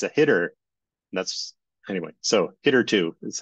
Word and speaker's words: httr2: uh logo for it I used to always pronounce it HTTR R2 and then realized oh it's it's a hitter that's anyway so hitter 2 is how it is formally pronounced all right